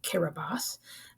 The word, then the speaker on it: Kiribati: It's spelled with a T-I at the end, but it's pronounced Kiribati. That's just how their language works.